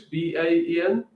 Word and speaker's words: Baen: I don't know how you pronounce it. Baen Books, Baen.